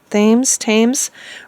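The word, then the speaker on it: Thames: tames river is that how they say it tames Rivers so that was um a really sad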